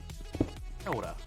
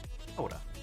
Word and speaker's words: Kia ora: Kia ora. You know, so you're sort of doing a very soft D. Kia ora, like that. Kia ora.